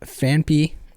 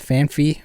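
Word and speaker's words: Phanpy: arceus without the hard k sound arceus thought fanpee was fanfee for like 20 years i know there's definitely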